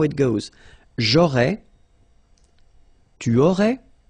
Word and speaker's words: j'aurais: J'aurais, so final S, not pronounced.